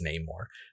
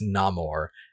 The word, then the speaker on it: Namor: and it's pronounced as nameor but then in the movie he specifically says it's no more and everyone else still